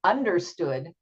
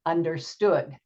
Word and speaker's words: understood: that gets stressed so we don't say understood but we say understood so um I've underlined